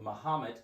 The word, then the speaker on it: Mahomet: All right, so Mahomet, Illinois.